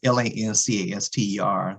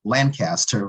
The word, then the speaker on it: Lancaster: uh land well it it looks like it's l-a-n-c-a-s-t-e-r so um the pronunciation you know a lot of folks were saying Lancaster what we say Lancaster and and here in Texas but he graduated from